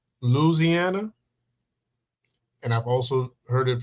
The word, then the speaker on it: Louisiana: But I've heard people say Luciana like without the I like when I hear like the Popeyes commercial Louisiana.